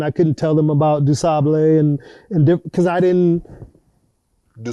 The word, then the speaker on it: Du Sable: about Toussaint, and I couldn't tell them about Du Sable, and because I didn't. Du Sable? Yeah. Now, for those who don't know, Chicago was founded by a Haitian immigrant named Jean Baptiste Du Sable is what we say.